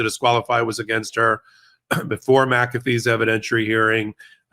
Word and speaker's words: McAfee: unwind the guilty plea you have an interesting way of pronouncing the judge's name maffy it's m it's McAfee oh my gosh I